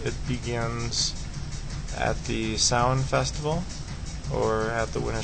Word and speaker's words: Samhain: Samhain, or traditionally Halloween, is pronounced Samhain, but it's spelled Samhain if you've seen this word printed before.